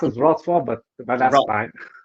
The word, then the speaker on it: Wrocław: He has achieved his master's level in global communication from Rocklow University, correct me if I'm wrong, in yeah, Poland. it's pronounced as Wrocław, but that's Ro- fine. Right. And currently Wrocław.